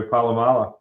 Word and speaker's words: Polamalu: Troy Polamalu.